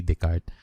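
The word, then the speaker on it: Descartes: r d e s it should be d e s c a r d e s something like that so but the pronunciation is correct renee the card anyway um another nana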